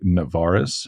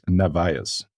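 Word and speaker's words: Narváez: So Americans say Navarez. Have you noticed this? If you look at the name, it's not Navarez. It's Narvaez. There's no R at the end.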